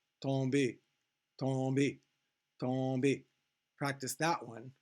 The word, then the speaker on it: tomber: So you do not pronounce the M again.